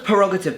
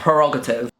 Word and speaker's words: prerogative: here royal Parag propre I thought the work was perogative but this is spelled pre wrong Pro oh yeah prerogative I'm so so I'm